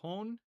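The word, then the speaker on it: هنا: And so the word here in Arabic is hon. Okay. So hon is how we say here in Arabic. And then if we want to say that in Hebrew, it's a little bit different. And it will be po. Okay. Hone in Arabic, po in Hebrew.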